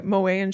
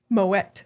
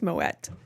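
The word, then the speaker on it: Moët: I went to Mo and Shandon which I learned is Moette. It's supposed to be pronounced Moette.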